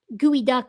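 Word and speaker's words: geoduck: sent two from uh gooey duck gooey duck. Wait, gooey duck gooey science. That's how you're supposed to pronounce geod duck.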